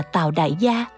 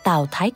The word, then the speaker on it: Tào Đại Gia: đại gia thì sao hai chữ đại gia này không đọc là đại gia Trước đây tôi cũng thường đọc là tào đại gia tôi nói Tại sao lại đặt tên này sau khi nghiên cứu kỹ thì mới phát hiện chữ đại này đọc là thái giống chữ Thái trong thái thái Còn chữ gia là cô là chữ cô trong từ cô thúc nên phải đọc tào đại gia thành Tào Thái cô Đây là cách